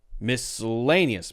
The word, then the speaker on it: miscellaneous: will say miscellaneous and some people will say Miss miscellaneous right that's on the line